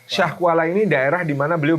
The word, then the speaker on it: Syiah Kuala: Jadi sekarang oleh e ejaan Indonesia itu ditulis Syiah Kuala tapi bukan Syiah ya tapi Syah kita membacanya Syah Kuala Syah Kuala ini daerah di mana